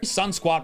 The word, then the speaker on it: Sunquat: Sunquat rhymes with sunspot.